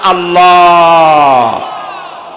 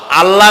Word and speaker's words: আল্লাহ: আল্লাহর নাম আল্লাহ। বলেন তো? আল্লাহ নয়, কিন্তু আল্লাহ হচ্ছে অশুদ্ধ, শুদ্ধ হচ্ছে আল্লাহ। বলার সময় মুখটা গোল হয়ে যাবে। বলেন তো, সবাই উচ্চারণ করেন আল্লাহ, আবার বলেন আল্লাহ, আবার বলেন আল্লাহ।